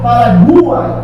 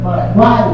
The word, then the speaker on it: Paraguai: Não é Paraguai, nem Paraguai, é Paraguai, tudo junto.